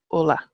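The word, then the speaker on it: Ulaidh: crime or croak on so Ola is Ulster ula ID is pronounced Ola Ulster okay so I'm just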